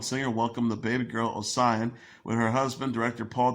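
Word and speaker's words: Osian: Welcome to the world, my little sister Ossian, pronounced Ossian, like the body of water.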